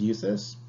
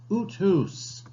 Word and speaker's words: Euthes: Last name is pronounced Euthes. Unless, of course, you happen to be in Norway, in which case it is pronounced Uthus.